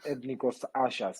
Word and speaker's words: Ethnikos Assias: Assias, I believe it is, but I'm sure you can do a better pronunciation than me. Yeah. It was Ethnikos Assias.